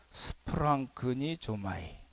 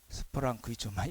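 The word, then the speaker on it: σπλαγχνίζομαι: 발음이 어렵죠? 스프랑크니 조마이. 스프랑크니 조마이 이렇게 되어 있어요.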